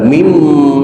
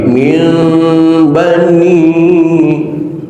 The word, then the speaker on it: من بني: cara membacanya tolong perbaiki, bukan mim tapi min bani, terkatupnya bibir pelan-pelan, itu yang dimaksud dengan tajwid halus lembut, nggak kasar.